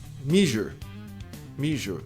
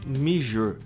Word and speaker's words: measure: Muita gente pronuncia assim. Measure. Tá soando igual o quê? Então, não é measure, é measure. E esse U-R-E acaba sendo pronunciado muito próximo a isso aqui. Um hiato. Measure. Igual a palavra prazer.